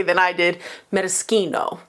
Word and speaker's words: maraschino: It is a maraschino, as Americans pronounce it, maraschino, as Italians pronounce it. Actually, they probably pronounce it in a much more lyrical, beautiful way than I did, maraschino.